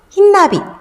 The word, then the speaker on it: 흰나비: 흰나비. 흐인나비라고 하지 않죠? 흰나비.